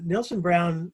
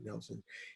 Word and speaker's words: Nielsen: in the 1870s uh nelson brown it's spelled nielsen it's pronounced nelson i should be pronouncing it nelson he's an heir to